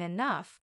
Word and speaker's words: enough: day I'll even understand why G can sound like f in enough maybe one day I'll